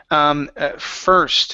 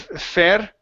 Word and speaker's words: first: was another one ok so first instead of fed first with an air sound it's her fur first the man leave first